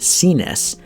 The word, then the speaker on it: CNES: of cap toe oxford from cnes pronounced cenes shoemaker out of singapore